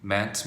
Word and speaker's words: meant: 자, 그 다음 의미하다 mean인데 얘는 mean에다가 t를 붙이는데 발음이 바뀝니다. 잘 들어보세요. mean, meant, meant.